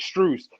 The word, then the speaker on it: Strus: It's Strus, yeah.